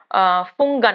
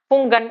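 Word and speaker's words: Hpungan: पर अजीबो गरीब है फन है फन एच इसकी स्पेलिंग है एच पी यू एन जी ए एन फन इसे पढ़ सकते हैं तो इस तरीके से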